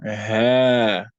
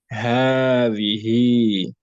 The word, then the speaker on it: هذه: No, it's just ha without the alif, but then the alif is pronounced.